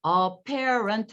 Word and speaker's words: apparent: parent 같은 경우에도 보면은 지금 두 번째 음절 apparent 하면 3음절이에요. apparent. 근데 보면은 이것도 비강세. 이것도 슈와. 그다음에 parent도 슈와 발음이죠. 그래서 appae 요 발음만. 이 두 번째 음절만 강세가 들어가요. 그러니까 나머지는 그냥 어로 힘을 빼시면 돼요. 그래서 parent 이렇게 하면 돼요. parent. 앞부분 들리지도 않아요. 그냥 거의 parent로 들릴 거예요. 근데 apparent죠.